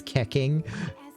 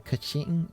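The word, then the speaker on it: Keqing: I know that the correct pronunciation is more like Cushing or Kuching or something like that.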